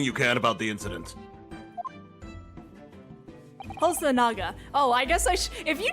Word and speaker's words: Hosonaga: It's Naga, not Noga.